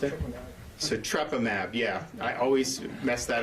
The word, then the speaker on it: Sotrovimab: How do you pronounce it? Sotrovimab.